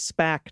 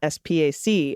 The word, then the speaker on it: SPAC: A SPAC, Special Purpose Acquisition Company, is referred to as SPAC, not SPAC, and I was calling it an SPAC, Dana.